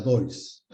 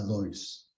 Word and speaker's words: Deutz: Esta cámara es la DOIS. Cámara DOIS. Se escribe DEUTZ. D-E-U-T-Z.